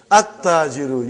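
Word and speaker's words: التاجر: At-tajiru. You did not pronounce lam. Why you did not pronounce? Because it is sun letter.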